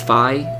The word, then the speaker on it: Fi: the official pronunciation is Phi y'all can check me on that but I believe the official pronunciation is by like the Greek alphabet so I just learned